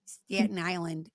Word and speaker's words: Staten Island: Staten Island.